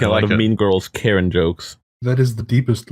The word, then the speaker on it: Charon: Chiron? Like CHIRON or Yeah, No. it's Greek CH. Undertaker. oh CHARON. Yeah. Okay, but that more one. pronounced Karen. Like, Right. I gotcha. Like the actual female name.